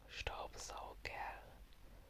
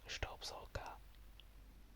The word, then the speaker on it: Staubsauger: Usually a lot of words that end with an E and an R sometimes just get pronounced with an A, but either pronunciation is correct. Like, you could say Staubsauger, but just saying Staubsauger with a short A at the end instead of an E and an R would also be correct.